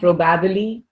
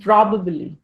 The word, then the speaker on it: probably: probably the stress pattern is different probably not probabbly not probably it's probably probably okay yes this Federal we say Federal